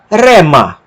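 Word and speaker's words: ῥῆμα: Ro tem o som do R gaúcho, rua, rato, rei. e com a aspiração forte não altera em nada a sua pronúncia, tá?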